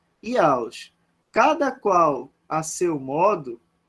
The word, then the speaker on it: Jauss: Se escreve Jauss, né? Tá? Mas no alemão a gente pronuncia Jauss.